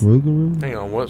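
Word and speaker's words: rougarou: like frogo frogo frogo what r o u g a r o u raru yes rugaru hang on what spell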